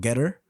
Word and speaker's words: Gettr: But Getter is spelled Gettr.